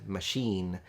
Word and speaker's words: machine: it's with the word machine in which case it's spelled with an i but you pronounce it like a double e so this is what